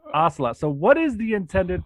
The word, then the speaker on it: Ocelot: So my name is Ocelot, not pronounced like the cat, Ocelot.